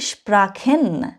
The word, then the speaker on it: Sprachen: আমি এখানে একটা বলেছি স্প্রাখেন, আবার বলেছি স্প্রেশন। এক জায়গায় আমি খ উচ্চারণ করেছি, সিএইচ এর উচ্চারণ যেটা সিএইচ, আরেক জায়গায় আমি স উচ্চারণ করেছি, ঠিক আছে? মনে রাখবেন, যদি কখনো আপনি সিএইচ এর আগে এ, ও অথবা ইউ দেখেন, তখন আপনি খ উচ্চারণ করবেন।